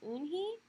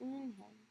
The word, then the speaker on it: Eunhae: Your name is Eunhee? He asked her with eyes open wide. Eunhae looked quickly at Mr. Kim, then turned to Joey. She nodded slowly. Yes, it's pronounced Eunhae.